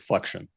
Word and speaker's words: Flexion: Is that the right pronunciation, by the way, or is it flexion?